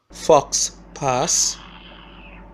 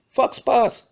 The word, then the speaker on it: faux pas: his social media faux pas, wait, faux pas, Fox Pass, yeah, that's how it pronounced. That's how it pronounced. Fox Pass.